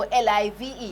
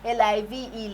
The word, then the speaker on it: live: another set that, sorry, the spelling is the same, but the pronunciation will depend on the context. So L-I-V-E, yes, you're very good at that. L-I-V-E, live, but L-I-V-E can also be live.